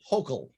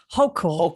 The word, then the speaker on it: Hochul: Her name is pronounced Hochul. Hochul.